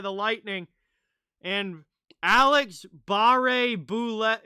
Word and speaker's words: Boulet: lightning and alex barre boulet is it boulette generally you would say boule if it's french but i don't know how he pronounces it as that one gets